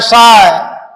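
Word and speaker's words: psi: एक आता है शाय, ऐसे त्रिशूल की तरह रहेगा, शंकर जी का त्रिशूल देखे हो ना, शाय, PSHI, P साइलेंट होता है, शाय, ऑल आर ग्रीक लेटर।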